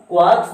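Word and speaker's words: quarks: ध्यान से समझिएगा, क्वार्क्स में आर साइलेंट होता है जिसके कारण इसको क्वार्क्स ना पढ़ के क्या पढ़ा जाता है, क्वार्क्स।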